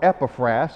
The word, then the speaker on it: Epaphras: church planter in the city of colossae and epaphras or epiphras if you prefer that pronunciation epiphanes was the guy then who led